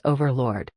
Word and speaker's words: overlord: How do you pronounce overlord? Answer: you stress the first letter O heavily.